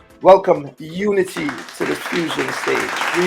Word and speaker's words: Youni T: my good friend and it's pronounced Unity but it's not spelled Unity welcome Unity to the fusion stage